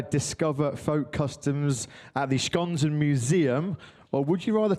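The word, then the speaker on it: Skanzen: I believe I've tried to be very very good with my Hungarian pronunciation, so I believe it's museum. Schonzen.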